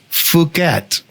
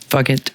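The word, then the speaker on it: Phuket: And uh uh the name of the you have to be very careful about the way you pronounce the name of the city. It's Fuket. Fuket.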